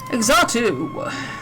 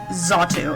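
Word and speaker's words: Xatu: Exotu, there was a short there was one time where someone tried to correct me of like it's pronounced Zatu and I'm like I don't care.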